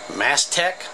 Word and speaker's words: Mastech: to evaluate actually this device right here this mast tech yes that's how you say it Ms 5308